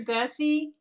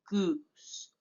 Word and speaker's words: Gosse: me Dr gussie that my last name rhymes with hussy fussy I like that oh ought to be a you you can call me Professor you can call me but do not call me Goose sometimes for whatever reasons